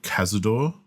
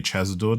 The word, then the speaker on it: Cazador: vampire who made him called kazador or maybe chesador depending on how you pronounce it but it's c a z a do I keep saying chesador but my friends keep saying Cazador so H who knows